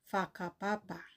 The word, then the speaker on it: whakapapa: nila wakapre pronunciation Ay faapa. So yon ay pag nakakakita kayo ng WH, ang tamang pronunciation ay F. So bigay tayo ng iba pang example.